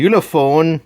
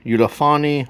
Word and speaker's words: Ulefone: probably yeah anyways so today I've got a ulone ulaon I don't know how you pronounce it's looks like Uli phone like UL phone but uh ulone 16 note